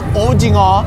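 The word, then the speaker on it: 오징어: It's actually ojingo, and I said seo earlier.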